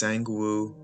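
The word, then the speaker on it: Sang-woo: so he so young i'm butchering his name right now yep i completely butchered his name it's sangwoo like the video and subscribe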